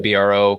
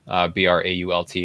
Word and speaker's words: Brault: So Instagram handle @ActionDanBro, and I spell it BRO because if I spelled it the way it's actually spelled, BRAULT, everyone would say Action Brault. So it's Action Bro.